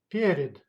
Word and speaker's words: перед: Перед. Перед. That's mean in front of or before. Period. Pay attention, please. The sound stressed goes on the first syllable.